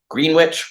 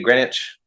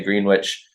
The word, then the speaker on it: Greenwich: very Brash um so we say green witch green witch instead of Greenwich like most everyone else does around the world um that's just a